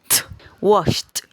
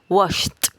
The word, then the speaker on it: washed: como un es decir omitimos la e y unimos la los sonidos de la sh con la d pero esta d suena más fuerte suena como una washed washed washed vale veamos este otro